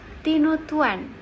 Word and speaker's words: tinutuan: tinut Tuan bubur khas manadoa tinutuan Bagaimana cara pengucapannya ya tinutuan atau biasa juga disebut bubur Manado oh Isinya